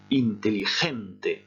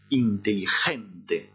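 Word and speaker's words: inteligente: Et la solution est intelligente. Vous répétez après moi, intelligente. Le mot se termine par une voyelle, par conséquent, l'accent tonique doit se trouver sur l'avant-dernière syllabe.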